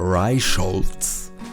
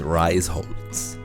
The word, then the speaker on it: Reisholz: If you're British or English or from that region, but SH is actually not a combination of letters. It is the border between two syllables. So instead of Reichholz, it's Reisholz. Not sh, but z.